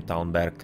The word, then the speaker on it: Talmberg: In Czech you have basically just the difference of the G and K, that the G changes into K in Czech, but the pronunciation is pretty much the same, Talmberg.